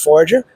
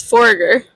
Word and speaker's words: Foregger: Today I am joined by Forager. Am I pronouncing that right? It's Forger.